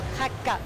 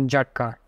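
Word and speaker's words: Jhatka: Sí, se llama Yatka. Y me imagino que pronuncio Hakka porque ustedes pronuncian J como H, ¿no? Pero es Yatka y es como matar a un animal así.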